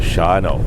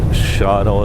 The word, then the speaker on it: Shawano: that's written Shawano Shawano I don't know how they came up with Shawn Oh but they pronounced it shadow I guess we're gonna pronounce it shot Oh as well I wonder what Larry's